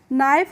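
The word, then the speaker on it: knife: हैं नो पढ़ते हैं जब भी किसी वर्ड में आपको के के बाद एन दिखाई दे तो वहां पर हम के का उच्चारण नहीं करेंगे कोई भी वर्ड के और एन से शुरू होगा तो वहां पर हम के का प्रोनाउंस नहीं करते हैं जैसे के एन आई एफ ई नाइफ होता है तो इसको हम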